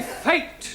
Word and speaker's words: fate: But if we add an E to the end of fat, then what do we have? Fatty. No, Giovanni, fate.